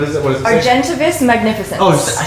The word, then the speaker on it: Argentavis magnificens: Argentivis magnificens. Oh, I said it right. Argentivis magnificens.